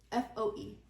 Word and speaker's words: Foe: P Panda fo no f o e oh okay like foe like you're my foe is it funny no